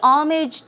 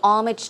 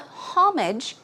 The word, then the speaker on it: homage: be respectful so pay homage to although it starts with an H the H is silent so it's not homage its homage homage pay